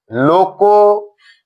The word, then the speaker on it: লোকনৃত্য: এই শব্দটি উচ্চারণের সময় যেহেতু ক ধ্বনিটির সাথে অকার রয়েছে এবং এর পরের ধ্বনি ন এর সাথে রিকার রয়েছে, তাহলে নিয়ম অনুযায়ী এর উচ্চারণটি হয়ে যাবে লোকনৃত্য।